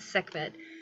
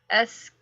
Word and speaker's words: Sekhmet: Sekhmet. Okay, yeah, that's what I thought it was. Am I saying it wrong? No, you're saying it perfectly right.